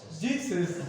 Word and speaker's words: GCFS: Jesus. No, file system. Yeah, but it's just the Jesus file system. You just have to pronounce it like that.